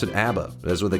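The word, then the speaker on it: A.B.A: I think somebody earlier was saying you just pronounced it abba.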